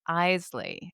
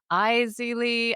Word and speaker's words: Eley: a fantastic conifer nursery, and that is Eley. And I always say Aili.